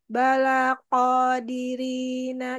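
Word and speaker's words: قادرين: di belakang sama Q balaqo jangan sama kayak Kaf jadi agak diangkat pangkal lidahnya bedanya kan ya kalau misalnya ko itu kan dia istila jadinya tebal dibacanya balaqodirina jangan balaqo jangan balaqo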